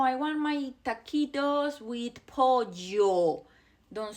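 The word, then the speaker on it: pollo: When you see those, when you see two L's or double L, we pronounce that as a J sound.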